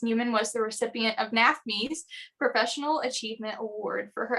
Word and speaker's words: NAfME: NAFME or NAFME?